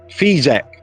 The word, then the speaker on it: Figeac: Figeac, as Figeac, that's how you pronounce that.